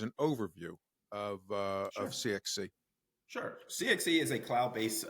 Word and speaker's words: CIXCI: and founded the CXC which is spelled by the way C ixci but it's CXC which I've learned over the time so um why don't